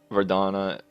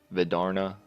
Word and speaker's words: Vidarna: Vidarna, or Vidarna, I think is how I would pronounce it.